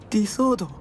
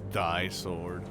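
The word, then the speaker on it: Di-Sword: Disorder. You all say it wrong. It's die sword.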